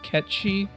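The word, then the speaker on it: Cait Sith: thing there because it's based off of like a Gaelic myth about like a cat and it's pronounced catchy but no one [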